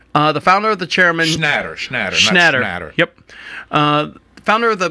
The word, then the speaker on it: Schnatter: John Schmatter. Okay. The founder of the chairman. Schnatter.